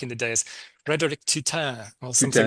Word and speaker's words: Tuten: And the writer it's the name is actually, he pronounces it himself, Frederic Tuten. Tuten.